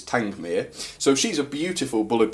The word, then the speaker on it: Tangmere: and it's called Tangmere although for many months I actually called the challenge mirror and an order lot of people but supposedly the right way to say is tank Mir so she's a beautiful